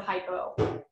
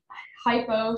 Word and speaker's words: hypo: I think hypo sounds a little bit like hippo, you know, like, I mean,